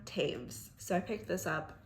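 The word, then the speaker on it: Toews: I can never say her name because I want to say Toes so bad when it's not Toes. Miriam Taves.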